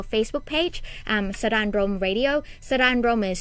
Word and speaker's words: Saranrom: Sara'n Rom is spelled SARANROM, Sara'n Rom Radio.